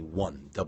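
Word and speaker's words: won: as their currency marker Koreans call their money one wo n spelled in english one and there are the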